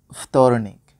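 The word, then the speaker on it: вторник: এবার দেখবো সপ্তাহের দিনগুলোর নাম তার উচ্চারণ এবং তার বাংলা কি হবে। প্রথমেই রয়েছে পানিদেলনিক যার বাংলা সোমবার। তারপর তরনিক যার বাংলা মঙ্গলবার।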